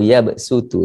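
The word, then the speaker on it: يَبْسُطُ: Itu lebih afdal kita baca sin. Wallahu yabsutu, bukan wallahu yabsutu.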